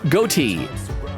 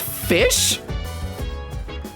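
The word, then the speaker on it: ghoti: says how to say goatee GH equals f as in rough o equals I as in women oh oh so i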